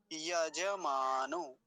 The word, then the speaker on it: यजमानो: जैसे हम कई बार यजमान कह देते हैं, यजमान ऐसे होता है, यजमान।